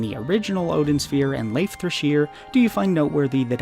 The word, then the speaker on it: Leifthrasir: by the fact that i keep calling it leif thresher because that's what the internet told me is the correct pronunciation and if you're a